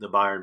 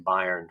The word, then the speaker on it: Bayern: go down to the brewery and watch the Bayern Munich game. And if Patrick's still on here, I hope he's proud that I'm pronouncing Bayern correctly instead of Bayern like I was.